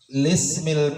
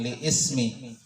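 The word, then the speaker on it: للاسم: Pada bagi isim bacanya lismi, bukan li ismi, karena tidak ada hamzah, ya. Jadi bacanya lismi.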